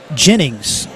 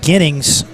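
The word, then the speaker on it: Gennings: Came up and alerted us that it is Clayton Jennings. Clayton Jennings. I think I was saying Ginnings in the first quarter, so apologize for that. Thank you for the shout out on that to alert us. So any Jennings I've ever seen is spelled with a J, but he is spelled with a G.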